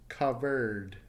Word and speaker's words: covered: Past tense, covered. So the last sound is the R. Causes a vibration, leading to the pronunciation of a D.